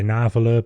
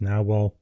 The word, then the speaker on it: Nahvalur: I want to say Nahvalur, but apparently it's pronounced Nahvalur.